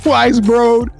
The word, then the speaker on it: Weisbrod: Weisbrod. Yes, there you go, bro. You got it. and Kevin gonna probably keep that part in the show when I make a mistake, right? Weisbrod.